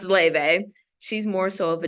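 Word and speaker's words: Laufey: Jack like Le it's most Americans call her ly but her name is Icelandic so I just realize that it's pronounced Le she's more so of a jazz artist as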